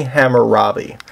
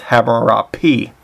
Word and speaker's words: Hammurabi: And the major king of this era is this man known as King Hammurabi. Sometimes it's pronounced Hammurapi.